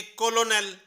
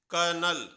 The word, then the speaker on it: colonel: होना तो चाहिए ये कोलोनेल, लेकिन इस वर्ड की सही प्रोनाउंसिएशन है कर्नल। कर्नल। जो ये बीच में एल है, इसकी साउंड बिल्कुल भी नहीं आ रही है और एक आर की साउंड पता नहीं कहां से आ गई, और इसे हिंदी में